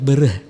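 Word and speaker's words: Daud Beureueh: mundur sampai zamannya Daud yang bener dibacanya dot ber eh bukan Daud beureuh zamannya menjadi pemimpin Aceh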